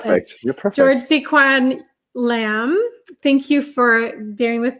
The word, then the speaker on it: Tsz-Kwan Lam: Tsz-Kwan Lam.